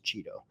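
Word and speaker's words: Cheatle: on one American News how do you pronounce her name and she said it's Cheeto so that's her new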